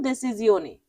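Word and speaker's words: decisione: Italian উচ্চারণ দেসিজিওনি।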